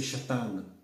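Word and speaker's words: שטן: Le che se transcrit souvent en français par S, comme Satan. C'est en fait en hébreu, c'est Shatan. Shatan. Et donc, on le transcrit par le S, sans le che.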